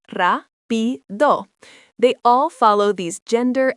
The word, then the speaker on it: rápido: Fast is rápido, pronounced rápido.